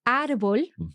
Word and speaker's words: árbol: So, for example, árbol, tree, has an accent. And the reason for that is because it ends in L, then quite often words that end in L will have their accent on the last syllable. They will be aguda, like natural.